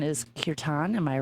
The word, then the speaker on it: kirtan: too much about in the connect product correct pronunciation is kirtan am i right kirtan yes your time for people who maybe aren't